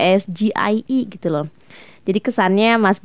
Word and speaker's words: SGIE: itu karena ini singkatan sgie itu singkatan dari bahasa Inggris ya harusnya bacanya itu ya SG II gitu loh Jadi kesannya